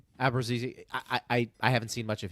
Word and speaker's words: Abruzzese: The other 6, well, Abruzzese, how do you pronounce his last name? Abruzzese.